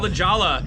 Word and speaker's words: Lajolla: so- It's called Lajolla, pronounced just like it's spelled.